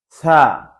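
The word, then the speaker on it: ث: হরফটা হচ্ছে আলিফ, বা, তা, সা, সা।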